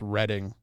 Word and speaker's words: Reading: It's Reading, Pennsylvania, Oh, well, it's spelled like Reading. but it's Reading. It's like bass and bass.